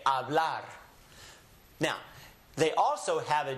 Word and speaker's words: hablar: It's silencio. So when I read words, it's as if it's not there, so we just kind of cover it up when we say hablar.